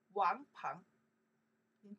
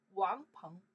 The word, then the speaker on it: 王鹏: This character 鹏 we pronounce the 鹏 by itself, from 朋友 friends. 朋友 okay, 鹏 that person name. 王鹏In China, the meaning more prefer for boy name. Wang Peng, where sudden name, like not as it's boy.